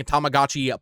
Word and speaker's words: Tamagotchi: June 27th, Bandai Namco is releasing Tamagotchi Plaza. The Nintendo Direct announcer said Tamagotchi. That's definitely not how you pronounce that, right?